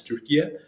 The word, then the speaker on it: Türkiye: sort of government's leadership, they are on a campaign to have it pronounced as Türkiye. In order to likely distinguish it from the other Turkey, and that's the reason why locally, that's how I pronounce it.